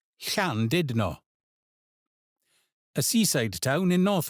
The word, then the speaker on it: Llandudno: This is a picturesque little village in West Wales, where the stress falls on The ll is that familiar soft breathy sound, and ch is like the ch in the Scottish loch.